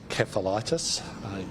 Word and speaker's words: encephalitis: Encephalitis, a hard C.